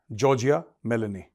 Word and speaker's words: Giorgia Meloni: यह तो जॉर्जिया मिलनी मिलनी this how you pronounce the name जॉर्जिया मिलनी इसका बड़ा कंट्रोवर्शियल स्टेटमेंट आया है इसने यह